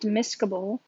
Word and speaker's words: miscible: so another term miscobol so this term is pronounced miscable but it's basically kind of like mix able